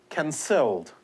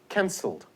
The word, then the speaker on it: cancelled: As this here has been spelt, it should be pronounced cancelled. You see that? But it's not. It's pronounced cancelled. The stress is on the first syllable.